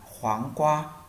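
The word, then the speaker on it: 黄瓜: Dưa chuột tiếng Trung người ta sẽ đọc là khoáng qua, khoáng qua.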